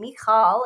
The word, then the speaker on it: Michal: my past videos where I was going by the Hebrew pronunciation of my name, Mikall. It's the same. Um, my mom picked it from the Bible. So, for a while, I wanted to go by the Hebrew way to say it, and now I want